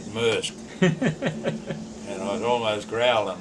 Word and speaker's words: Maersk: I said Maersk.